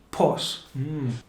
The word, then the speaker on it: pues: So pos, and some people wouldn't even pronounce the S, so it would be more like po, no me importa.